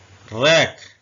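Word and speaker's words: wreck: इसका मतलब है तलवार टू टू में डब्लू साइलेंट है टू का मतलब होता है दो रक रक का मतलब होता है तबाही या किसी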